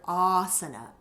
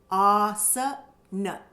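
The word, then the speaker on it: āsana: So many of you know the word asana. So in that we have both the long ah and the short asana.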